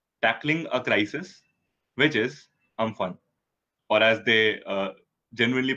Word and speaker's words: Amphan: And the topic for today is tackling a crisis, which is Amphan. Or as they genuinely pronounce it, Umphan, which is what I just read up on Google.